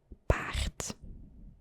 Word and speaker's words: paard: It's pronounced paard.